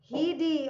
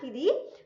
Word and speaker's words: Heidi: About one of the most famous character, an orphan girl whose name was Heidi or Heidi. Sorry, not Heidi. I mispronounced it. Heidi, right?